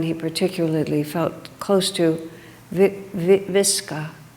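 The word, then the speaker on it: Vicka: particularly felt close to, Viska, I think is how the name is pronounced. In written English it looks like Vika, but that's not the right pronunciation.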